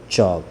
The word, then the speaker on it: chalk: चौक की स्पेलिंग क्या होती है, CHALK, चौक। ठीक है, यहाँ पे L साइलेंट होता है, तो इसे हम क्या पढ़ते हैं, चौक।